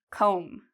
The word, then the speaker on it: comb: Do you hear the B sound? Comb. No, there's no B sound because again, we have this M.